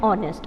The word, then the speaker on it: honest: a consonant sound however h is silent here and the beginning sound is o so we are not